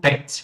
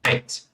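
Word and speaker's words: Bett: Isso faz toda a diferença, porque se eu falar, por exemplo, pet, ó, palminha, né, pronúncia curta, pet. Pet significa cama.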